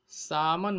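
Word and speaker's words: salmon: आश्चर्यजनक बात है का सामन मछली सामान कर सकते हैं इसकी स्पेलिंग तो सालमन होते हैं लेकिन लिए हिंदी में सामान् लिखते हैं अब यह मजबूत समुद्र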